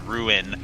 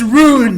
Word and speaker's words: rune: alone no because because your accent wouldn't mispronounce r-u-n-e as ruin I'm saying Rune it's roon r-u-n-e stop that's what I